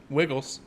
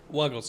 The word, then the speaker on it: Wuggles: Wiggles. Wuggles is the proper pronunciation.